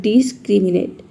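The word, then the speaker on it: discriminate: डी ई एस ये हो जाएगा डिस, सी आर आई ये हो जाएगा क्री, एम आई हो जाएगा मी और एन ए टी हो जाएगा एन ए टी ई ये हो जाएगा नेट। इसको एक साथ प्रोनाउंस करेंगे, ये हो जाएगा डिस्क्रिमिनेट। डिस्क्रिमिनेट का मतलब होता है भेदभाव करना।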